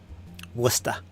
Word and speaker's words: Worcester: Worcester it spelled the same way but it's pronounced Worcester worcesta Worcester James says uh nice they just want